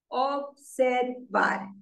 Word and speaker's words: observar: Observar. So when you say the word observar, you put the stress on the last syllable. Observar. Observar. Because it ends with a R.